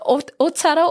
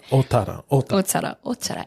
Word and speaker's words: Ōtara: So yeah, Ōtara or Te Pokeo Ōtara.